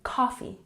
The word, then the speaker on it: coffee: that we are putting the emphasis on the first syllable in coffee coffee number 21 bring